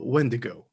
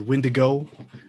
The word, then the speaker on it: wendigo: we're gonna talk about the wendigo uh or when to go when digo uh pronunciations vary spellings vary uh myth